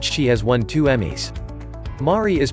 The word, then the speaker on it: Mari: has won two Emmys mari is pronounced like the name mary Mancusi is pronounced Manku